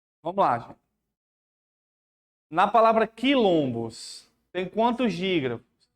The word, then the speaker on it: quilombo: Porque esse quilombo aqui é como se você estivesse pronunciando cair. Como se você estivesse pronunciando cair. O QU com som de K.